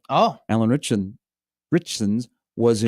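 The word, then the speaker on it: Ritchson: Richson's was in How do you say his name? Is it Richson?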